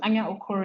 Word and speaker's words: Anya: Well, my surname is Ana. So, is my middle name is fine. Yeah, is fine. Okay. Ana is your surname. Yeah. Okay. Amazing. Ana is a Nigerian writer and lawyer.